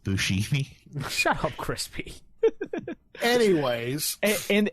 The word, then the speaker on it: Buscemi: It's pronounced Buscemi.